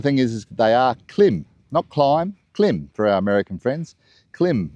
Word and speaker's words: Klim: Um the other thing is they are climb clim for our American friends. Clim Marrakesh. That's how it's pronounced.